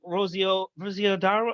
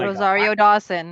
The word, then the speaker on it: Rosario Dawson: uh what's her name rozio rosiodaro i'm saying her name wrong oh rosario dawson thank you very much